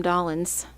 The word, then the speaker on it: Dollins: Well, the music showcase would be Sam Dollins, and he's our choir director. And his name is spelt like K and John Dolan's, and it's Dollins. So it's a little bit different, Dollins, because she was.